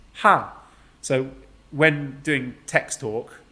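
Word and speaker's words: ห้า: a little pun yeah in thai thai language the number five is pronounced ha so when doing text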